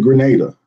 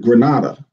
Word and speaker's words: Grenada: We pronounce it Grenada, but some pronounce it Granada. Okay. So, of course, it comes from the Spanish province of Granada.